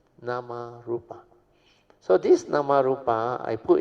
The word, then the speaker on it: Namarupa: That's why the fourth link is Vijnanam Pachya Namarup or Namarupa. Namarup is a Thai pronunciation. Namarupa.